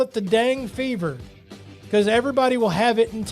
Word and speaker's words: dengue: So, but it's not spelled like what you would spell dang. It's DENGUE.